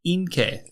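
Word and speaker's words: 陰茎: And penis is inkei. Inkei is spelled I-N-K-E-I.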